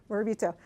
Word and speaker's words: Morabito: I was like trying to remember the pronunciation. Thank you, Morabito.